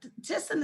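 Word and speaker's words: Thyssen: looking for just call tisson and crop you can call fujitec you can call oh goodness otis elevator and tyson somebody tyson is spelled with a t-h-y-s-s-e-n and krupp is k-r-u-p-p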